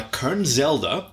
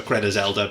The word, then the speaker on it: Kernezelda: So we've read stories of theirs before, and we said Kernezelda or Kernezelda because we're like that. So but it's Kernezelda.